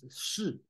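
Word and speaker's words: 勢: So, there's many ways to talk about this one, but it's not XI, it's not Qi, it's Shi, okay, pronounced as Shi.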